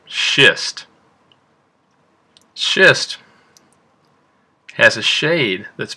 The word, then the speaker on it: schist: to write do and our last rock is pronounced shist schist has a shade that's between the shade